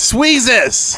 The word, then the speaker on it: Sweezes: The first, namely, is Sweezes. Hey, where have we heard that name before? Oh, It rhymes with Jesus.